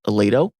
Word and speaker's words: Aledo: further into that conversation we're joined with Ron Aledo he's a former CIA contractor former joint Chief